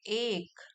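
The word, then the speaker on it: ache: But after 20 minutes, लेकिन फिर समय बीतने के साथ साथ 20 मिनट के बाद, हिज फिंगर्स बिगैन टू एक, इसको प्रोनाउंस करेंगे एक।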